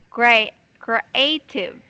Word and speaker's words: creative: Yeah, when you try to just going to prolong this, you pronounce it, I mean, you read this prolong A or say long A, okay?